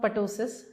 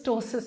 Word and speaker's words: ptosis: So it is not ptosis. Some people even call it this. So this is tossis I'm talking about. So p is silent here.